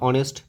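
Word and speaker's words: honest: silent হয় word কারণ এইচ এর উচ্চারণটা হয় না তাই এখানে উচ্চারণটা সাধারণত ও থেকে ধরা হয় তাহলে অনেস্ট তাহলে ভাওয়েল থাকছে তার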